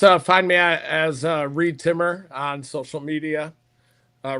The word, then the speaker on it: Reed Timmer: They can just uh find me as uh Reed timmer on social media. Uh rhymes with weed trimmer.